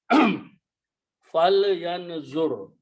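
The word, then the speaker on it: فَلْيَنظُرْ: So when you read these together, this is pronounced as a fal, not fala. Fal yanzur.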